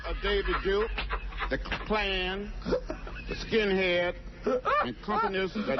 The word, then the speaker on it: Klan: The clans. The Klan. Now, why should he say it right? Maybe he's goofing on him. Yeah, maybe he just refuses to say the name correctly. The Klan. The Klan. That's how John says it.